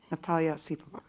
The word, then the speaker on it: Natalia Osipova: Natalia Osipova.